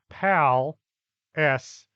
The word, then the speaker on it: Palestine: it correctly it's pronounced pal s not like that place over near the Mediterranean Pam went to the